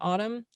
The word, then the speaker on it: Audm: you're narrating uh sure the company is called autumn um which is actually now a subsidiary of the new york times um it's spelled a-u-d-m um and it's a